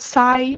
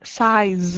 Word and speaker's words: size: So try to pronounce not sigh but size.